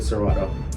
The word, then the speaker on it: Serato: Like, Just having this lets you get Serato.